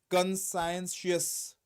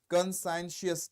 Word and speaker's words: conscientious: consenus workers disgusted what is consenus consenus is pronunciation conscientious conscientious t t rarely TS pronounce pronounce most of